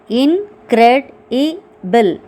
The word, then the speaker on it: incredible: Incredible. 4 syllables.